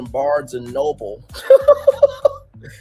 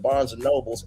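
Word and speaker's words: Barnes & Noble: Milagro's children talked about that she's buying iPhone 17s, going to Barnes and Noble. That's the correct pronunciation, but Milagro said Barnes and Nobles, and also talking about a family Christmas cruise.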